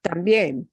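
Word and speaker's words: también: pronounce that word tambien we specifically take that e vowel and that gets more punch tambien so we have an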